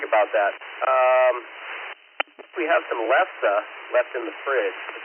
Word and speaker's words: lefse: Alex, it's lefse. Lefsse, I think is the proper pronunciation.